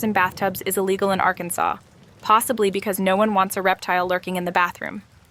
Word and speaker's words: Arkansas: When it comes to pronunciation, Arkansas takes its name very seriously. The state must be pronounced Arkansas, not Arkansas.